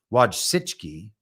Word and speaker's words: Wojcicki: Wojcicki, I think is how you say her name.